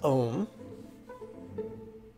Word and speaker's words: Om: our right little finger that syllable is ohm and it rhymes with home honey i'm home so